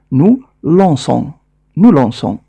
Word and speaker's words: lançons: هذه العلامة تجعل الحرف C ينطق بالصوت س مهما كان الحرف الذي بعده، وبالتالي سنقرأ nous lançons.